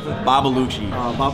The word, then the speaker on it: Babbalucci: come from village bobble the - I've been pronouncing wrong this entire time bobble Oochie Oochie is a Sicilian dish for snails it's